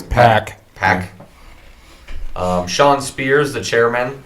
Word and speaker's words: PAC: How do they pronounce that? It's Pac.